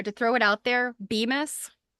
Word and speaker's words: Bemis: I do have to say though, to throw it out there, Bemis, I think that's how it's pronounced, BEMIS. They were one of the big bag manufacturers, and I see the them a mills.